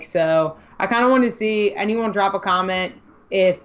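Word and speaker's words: Tisci: collection I don't even know how do you pronounce his last name because Tess ISA Ricardo to see so did you see that is it am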